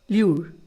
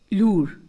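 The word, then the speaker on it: lure: ल्यूर, लूर. To make somebody, इसकी दोनों pronunciation use होती हैं, ल्यूर और लूर.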